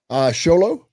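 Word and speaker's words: Show Low: Sholo, they say it right.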